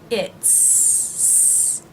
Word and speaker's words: it's: she's and it's now the apostrophe s for the word is in these three contractions is pronounced as a thief sound for he and she and as an S sound for it he's Z sound she's Z sound it's s sound the apostrophe s in